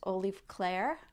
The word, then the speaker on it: Olef Clair: The color is, I believe it's pronounced Olef Clair, O-L-E-F, and then Clair without the E on the end. And this is, like I said, it's called Raindrops.